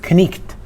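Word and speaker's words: knight: So the K at the beginning of the word night was pronounced knicht. And that word was pronounced knicht, and the K was pronounced.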